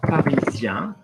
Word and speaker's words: Parisien: If I look at Parisien, okay, Parisien. Okay, now you might go, oh, hang on, Luke, but there's an en there. How come it isn't en? But that is just a specific ending. IEN is yan.